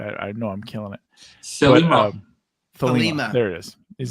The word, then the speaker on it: Thelema: The it's Greek. It's Greek for like the path.